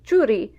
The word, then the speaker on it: txuri: Not uncommonly, many speakers replace Z with TX. So don't be surprised if you see churi instead of suri.